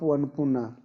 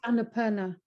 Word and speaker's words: Annapurna: Apu Anupuna. So you call on this Apu for the portal of the East. Yes, Sally? You can unmute. It's usually pronounced Annapurna.